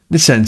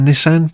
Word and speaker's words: Nissan: And I'm aware that we say Nissan stupidly here because no Japanese person ever would say Nissan. They would say it a bit more like Americans say, which is the Nissan thing.